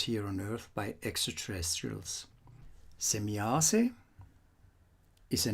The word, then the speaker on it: Semjase: in ancient times here on earth by extraterrestrials semiasse is a name that is frequently mispronounced as semiyasi and as you can read here you will